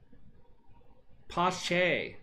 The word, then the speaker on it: Pache: Pache is how you say his name.